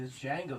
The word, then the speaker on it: Django: like the dj the django the d silence is going to drop the just like django said the d is silent i'm just going to